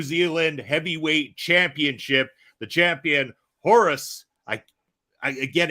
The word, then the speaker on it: Horus: In Spanish it's Orus, but here it is Horus.